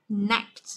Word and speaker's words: connect: Amuse, connect đấy, không đọc là connect nhớ chưa, connect. Connect, đấy, connect là âm e, mình đọc rõ âm e là connect.